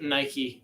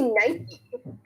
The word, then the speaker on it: Nike: It's Nike. Because like it's literally the Greek god of victory. So either you say it the Greek way or the wrong way.